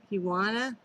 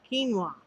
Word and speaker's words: quinoa: I might make some of that uh, kiwana. I know I'm saying it wrong. Quinoa.